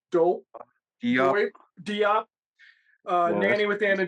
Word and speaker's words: Diop: No, what's how do you pronounce her last name? Dope Yup. Doip Diop. Yeah, Nanny with Anna Diop, highly recommended.